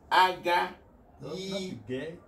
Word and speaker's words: Aghaizu: I don't have to make that mistake again. It's Aghaizu. Okay, G is not pronounced.